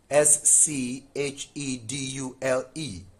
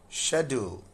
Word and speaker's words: schedule: Look at this word s c h e d u l e in US English this is schedule pronounced as j then schedule this way but in UK it is shadow shadow do.